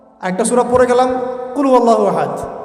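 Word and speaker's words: قُلْ هُوَ اللَّهُ أَحَدٌ: আরেকটা সূরা পড়ে গেলাম কুলহু আল্লাহু আহাদ কি মানে কি এটা উচ্চারণই বা কেমন করে করতে হয় কুল বলুন হু আল্লাহু আহাদ তিনি আল্লাহ এক এই যে কুলহু আল্লাহু আহাদ অনেকে বলতে পারে না কুলহু আল্লাহ কুলহু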